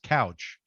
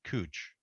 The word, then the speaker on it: Couch: spelled c u which most normal people would pronounce couch but in Portland they pronounce it cooch even an English person